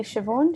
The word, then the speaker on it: Siobhan: thanks karen um maybe siobhan do you want to go next well let me know if i've mispronounced your name no that's perfect that's fine and yeah i'm siobhan